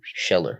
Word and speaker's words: Scheller: Scheller.